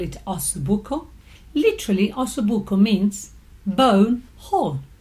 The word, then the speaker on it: ossobuco: I'm sure that many of you know what ossobuco is, correctly pronounced ossobuco, either as spelled as one word, ossobuco, or 2 words, ossobuco.